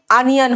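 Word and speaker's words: onion: ओ का प्रोनाउंसिएशन हर जगह ओ नहीं होता, ऑरेंज होता है लेकिन अनियन होता है, यानी ओ का प्रोनाउंसिएशन कई जगह पे अ देता है, ठीक है।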